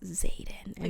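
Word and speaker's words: Xaden: name Aiden she's like is it Z is it like silent I was like it's Zaden a xylophone mom and she's like I got to chapter five and she's like Dane and Zaden were talking and they're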